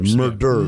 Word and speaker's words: murderer: Murderers. Multiple murders. Single murder. It was one. It was one murderer. One murderer. One murderer. One Let murderer. me finish. Yeah. There's an extra syllable from murder to murderer.